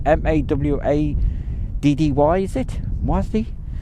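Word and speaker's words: Mawddwy: Dinas Mwathi, Mawddy, is it? Mwathi? See, 2 D's mean so Mwathi.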